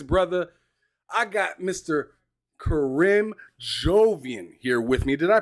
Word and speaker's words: Jovian: Karim Jovian here with me. Did I pronounce that correctly? Yeah, it's Karim, and you got Jovian correct.